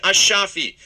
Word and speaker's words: Ashafi: The man being questioned is Highland Park City Councilman Kersheed Ashafi. It's Monday just after 11 p.m. A shafi, that's how you pronounce his name.